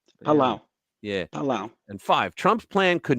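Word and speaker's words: Palau: Micronesia the Marshall Island and how do you pronounce that Pala palawa pal palao Pala yeah palao and five Trump's plan could mean massive financial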